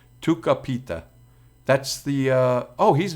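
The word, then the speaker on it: Tucupita: we do have uh to sapita Marcano uh no it's Tuka he's Venezuelan so that's not a soft C that's Tu capita that's the uh oh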